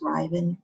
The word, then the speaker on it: Rivan: the best way to pronounce my name is to think about the r not being there so it's riven rhymes with ivan my interests are reading